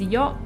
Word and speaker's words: よ: It's pronounced as yo, and you use it when you're telling someone something that they weren't aware of.